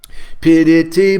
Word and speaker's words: piriti: Piriti boliya tinati akaka. Tiniti agara vidita bhuvana maje. Jahate pasila se majila kitara kalankalaje. Very beautiful poetry. He says that this word piriti, tinati akar, it's 3 syllables.